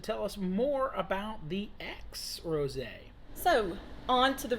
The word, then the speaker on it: Aix: rose it's called uh it's got aix but it's pronounced x uh it's a very